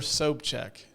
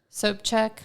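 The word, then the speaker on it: Sobchak: that's from water so check yeah am I pronouncing his name correctly uh one Walter soap check soap check okay it's just spelled differently than it's pronounced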